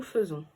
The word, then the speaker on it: faisons: ça se dit nous faisons mais ça s'écrit nous faisons mais ça se dit bien nous faisons est là les enfants